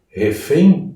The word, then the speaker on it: refém: Refém, por exemplo. Refém. A pronúncia correta é EI, refém, com um som nasal.